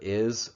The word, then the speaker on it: hay: So H-A-Y means there is or there are, and the H is silent.